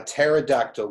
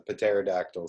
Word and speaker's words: pterodactyl: you not here a pterodactyl going to the bathroom I've no idea mr. wash because the P is silent so you've got to